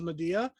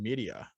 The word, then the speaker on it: Medea: wait a second what it might be pronounced in media nope that's media i'm already calling dude wouldn't that be crazy no because then what do we do i have to look up the pronunciation on this now no i'm not no it is medea okay good okay it is with an e like m e m-e-d-e-a so i was like